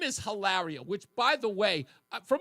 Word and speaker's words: Hilaria: Um, is she is she like is it I'm almost certain her name is Hillary and she pronounces her name Hilaria which I thought it was a joke.